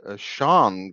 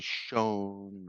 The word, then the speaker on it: shone: Oh, at least you pronounced the word Sean correctly, S-H-O-N-E. Nobody does. Every people say Sean or whatever, but you know, you said it right.